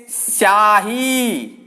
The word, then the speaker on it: स्याही: यहां पर ई की ध्वनि नहीं आएगी, बल्कि इसको सीधा ही बोलेंगे स्याही। सीधी यहां पे स की ध्वनि ही आएगी।